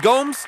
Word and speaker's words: Gomes: Is it Gomes or is it Gomez?